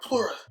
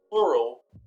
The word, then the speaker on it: Pleura: My pleura, they're working. I'm breathing. Well, this guy says pleura. No, not plural. Pleura.